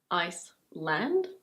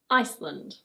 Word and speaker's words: Iceland: Similarly, this is not "Ice-LAND". This is: Iceland. Iceland.